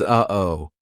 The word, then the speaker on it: uh-oh: uhoh oh no uh-oh that uh oh is a perfect example of how to use the glottal stop we aren't making the same mouth formation like we do for the true te or even the held tea it's coming from our throat uhoh so say uhoh